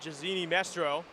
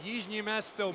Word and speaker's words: Jižní Město: So, back again for the final five minutes of this one here at Jazini Mestro. It's Yimesto, my friend.